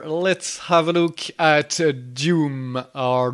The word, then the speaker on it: Dume: Let's have a look at Dume or Dumey. Okay, we have to decide how to pronounce this. So in French, it's Dume. Let's say Dume in English.